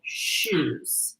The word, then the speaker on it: choux: They're called choux. CHOUX. I never knew that's how you A pronounce it. shoe.